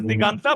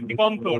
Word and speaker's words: Diganto: Now we pronounce Bengali names as Diganta, but it's actually Diganto, right? Congratulations, Diganta, sir.